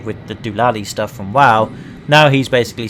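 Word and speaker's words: WAU: They too will find peace within the universe of the WoW. Oh, so it is pronounced wow then.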